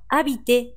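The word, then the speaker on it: habiter: このアビテですが、住むという意味で、先頭のアッシュは無音ですので発音されませんね。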